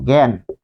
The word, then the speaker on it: জ্ঞান: বর্গীয় জ ইয় যদি প্রথমে থাকে তাহলে এর উচ্চারণটা কিন্তু এই যে যদি প্রথমে থাকে যেমন আমরা এখানে লিখবো জ্ঞান জ্ঞান জ্ঞান তাহলে বর্গীয় জ ইয় যদি প্রথমে